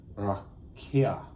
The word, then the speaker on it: rakia: This is from 7554, and it's pronounced rakia. Rakia.